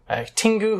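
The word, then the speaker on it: Tengu: Tingus?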